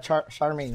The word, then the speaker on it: Charmaine: greatest uh just lucky so your name is uh Charmaine right yeah yeah it rhymes with charming I can't deal if